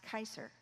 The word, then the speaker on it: Kaiser: Q-S-R, pronounced Kaiser.